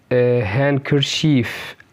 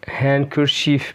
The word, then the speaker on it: handkerchief: اوكي، نيجي بعد كده حرف ال D بيكون silent في كلمات زي اللي جاية دي handsome Wednesday، برضو كلمة handkerchief handkerchief منديل sandwich sandwich.